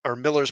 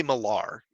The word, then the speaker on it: Miller: Reacting to Miller's proposition. I always want to say Millar, but yeah, it's Miller.